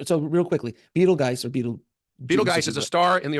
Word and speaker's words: Betelgeuse: And I don't know if you saw this, but so Betelgeuse, or Betelgeuse, as it's properly pronounced, is believed right